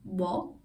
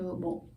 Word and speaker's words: 뭐: And be careful, this word here can be either pronounced as 뭐, like 뭐, but you can also just reduce it into 뭐.